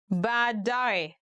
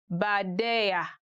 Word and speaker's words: baadaye: Today we are going to look at 10 hardest words to pronounce in Swahili. Baadaye, later.